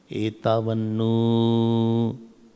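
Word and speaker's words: etāvan nu: Nu, this three word is written is called Plut. So you have to pronounce it longer. So you have to pronounce like that. Etavannu.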